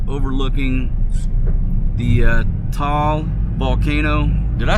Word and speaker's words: Taal: It's overlooking the uh Tal volcano. Did I say that right? Dong. How do you say Tal? Tal. Tal.